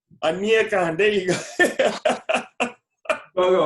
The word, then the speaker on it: Aniekan: Aniekan. Aniekan, there you go. Go right You there. say it right. Every time people pronounce my name right, it surprises me.